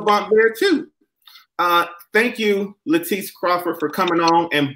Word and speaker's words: Latice: And it's Latice Crawford. That's how you pronounce it. Don't put Leticia on it. Don't call her Latrice. Don't call her Lala because that's not her name.